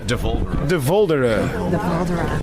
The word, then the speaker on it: De Voldere: De Voldere. Oh, okay. It's almost like Voldemort. The Voldemort.